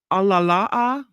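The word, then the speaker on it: ʻalalā: now home to the world's rarest Crow five alalaa so I said it wrong Al alala alala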